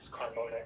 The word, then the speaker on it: Carmona: Carmona.